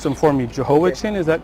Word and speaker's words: Jehoiachin: And I'll let you pronounce them for me. Jehoiachin, is that correct? Jehoiachin, yeah. Jehoiachin.